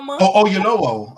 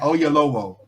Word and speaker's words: Oyelowo: Oyelowo. Okay. Okay, how you say it? Olayo. I just said Oyelowo.